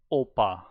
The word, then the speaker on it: 오빠: Yeah, I have to say it's pretty close, but I can see 오빠. that there it's more like a B, but if you just hear it very quickly and don't really focus on it, it's more like a P.